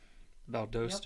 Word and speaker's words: Valdosta: Is that how you say it? Valdosta.